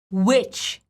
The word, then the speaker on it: witch: So it's witch, absolutely the same as the word witch.